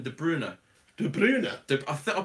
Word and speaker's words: De Bruyne: Kevin de Bruyne er I'm pretty sure is not de Bruyne er but everybody says de Bruyne her is actually Kevin de Bruna Dube lunar I thought